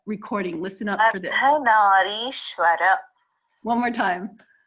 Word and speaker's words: Ardhanarishwara: Ardhanarishwara. Okay, so part of the reason I don't pronounce it is because it's Sanskrit and it's pronounced differently all over India depending, you know, on the dialect.